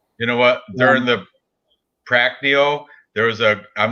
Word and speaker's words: Moicano: It's not Prancino, it's Pracneo. Anyway, Moicano.